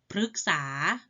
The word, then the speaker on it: พฤกษา: แบบ แรก กัน ค่ะ แบบ ที่ ออก เสียง เป็น เสียง หรือ เช่น ฤดู หมาย ถึง ส่วน ของ ปี ถ้า แบ่ง ตาม ภูมิอากาศ เป็น หลัก คฤหัสถ์ หมาย ถึง ผู้ ครอง เรือน พฤกษา หมาย ถึง ต้น ไม้ มฤตยู หมาย ถึง ความ ตาย ชื่อ ดาว เคราะห์ ดวง หนึ่ง เห็น ไหม คะ อ่าน ออก เสียง เป็น รึ นะ คะ ต่อ ไป อ่าน